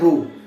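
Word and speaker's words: ρ: हैं वो लगाएंगे, और इसे हम प्रोनाउंस करते हैं रो, ठीक है, RH रो।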